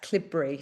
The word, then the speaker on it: Cleobury: You'll see on the chat, it's spelt Cleobury, but if you're from the area, it's pronounced Clibbury.